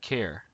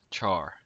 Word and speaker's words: char: them it would sound something like care and then the third way to say CH h a r is car as in a vehicle that you drive all three of these are valid I prefer the first use which is Char and I'll be using that in my videos so looking at it